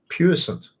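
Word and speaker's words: puissant: it really hard to say that word um puent there we go I got it right there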